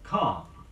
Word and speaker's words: calm: it spelling which is not pronounced is calm sea a L M it was the practiced